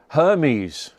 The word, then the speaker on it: Hermes: Hermes rhymes with yes.